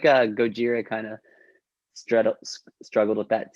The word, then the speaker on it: Gojira: I feel like Gojira kind of struggled with that too when people started seeing their name years ago, like go Ja, you know, it's like, but now everyone knows Gojira.